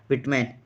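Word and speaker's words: Whitman: से दिखने वाले व्यक्ति जिनका नाम है वल्ट विटमैन ठीक है वल्ट हिटमैन भी बोलते हैं कोई कोई विटमैन भी बोलता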